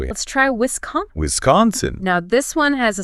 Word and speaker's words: Wisconsin: you say it it's Wisconsin Wiscon that's s is pronounced like a z a Wisconsin okay Z